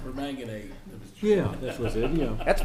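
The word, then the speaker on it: permanganate: Yeah, I'm all over this potassium pomegranate. Oh, perang. Believe that's pronounced per manganade.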